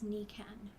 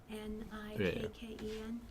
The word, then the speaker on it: Nikken: The company's name is Niken. Okay. Nikken. And I always tell people it's like your knee Yeah. and Barbie's boyfriend. Okay. All right? Yeah. That's how we pronounce it.